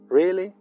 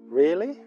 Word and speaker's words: really: verdad con una interrogación really tiene un significado parecido a si preguntaras en español de verdad Observa que pronunciamos really really hay dos vocales en la primera sílaba really really really aquí